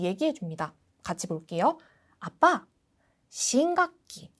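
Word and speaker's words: 新学期: 언제부터야라는 거를 미리 얘기해 줍니다 같이 볼게요 아빠 심각기 발음 주의하세요라고 짧게 불러주시면 됩니다 그래서 새 학기가 말이야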